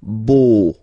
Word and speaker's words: beau: So remember this E-A-U combination of vowels only give you the sound O, beau, okay, le beau-père.